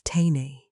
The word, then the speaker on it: Teinei: Teinei, pronounced as teinei, means being careful, thoughtful, and conscious in every small action.